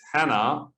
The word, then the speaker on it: Hanne: Hey guys, it's here from CFS Help, and on the other end, it's Hanna, or Hanne, if you want to pronounce it that way, from Norway.